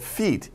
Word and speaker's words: feat: Pal 아니요, not feet, F-E-E-T, but feat, F-E-A-T. Pronunciation is the same as feet, right?